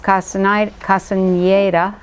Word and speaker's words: Castañeda: So, the Toltec map has, you know, it was kind of popularized by Carlos Castañeda, is the correct pronunciation.